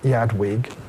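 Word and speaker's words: Eadwig: he is succeeded by it's spelled edwi here but we can call him Yad Weg uh who was son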